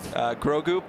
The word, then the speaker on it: Grogu: Grogu, pronounced perfectly.